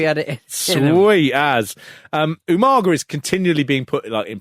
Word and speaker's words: Umaga: He could never say it's Umaga. Yeah. Right? Even though everyone must have been saying the name all the time. 3 syllables.